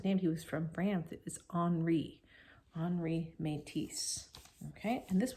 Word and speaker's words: Henri: when we read it we sometimes read it as Henry because that's how we would say it in English but we to pronounce